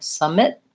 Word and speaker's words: summit: important thing is that I'm long and stretched out on the first syllable I'm short and reduced on the second so summit summit if I say